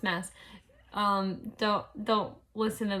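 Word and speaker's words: Maas: J Mass ium me it's pronounced mess um don't don't listen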